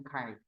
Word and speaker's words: chi: dari menu analyze ya frekuensi pilihin independen C square tuh lambangnya kayak gini X^ bahasa Yunani X itu ca kai tulisannya chi bacanya kai ini C square ya